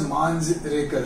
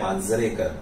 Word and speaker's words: Manjrekar: He was pronouncing your name as Manjrekar. So, आपका correct pronunciation क्या है? ये मैं जानना चाहता हूँ. He is right, क्योंकि वो है Manjrekar.